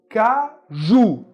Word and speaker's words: caju: Caju. Qual é a sílaba tônica? Ju. Caju. Ju é mais forte.